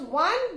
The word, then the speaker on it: one: Similarly, we say a 1 rupee note, a one-eyed man, because one begins with the consonant sound of W.